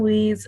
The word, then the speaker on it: Lise: No, I am Lise, or rhymes with bees.